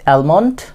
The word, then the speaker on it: almond: almond, but L will be silent.